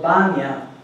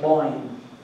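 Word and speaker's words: Bóinn: Remember that in Irish tradition, the oldest goddess is actually called Banya, and you might know of her more by the English mispronunciation of Boyne.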